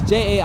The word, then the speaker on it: Jair: It's Jair. I forgot how to pronounce his first name, but last name Bolsonaro or whatever.